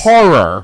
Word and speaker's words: horror: Horror is a two-syllable word. Whore is a one-syllable word.